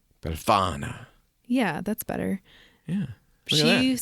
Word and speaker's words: Befana: Spell it. Belfana. Befana.